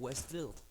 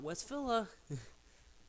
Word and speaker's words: Westville: Westville well actually is literally called Westfield not West Villa like it's spelled Westville where's Lily they are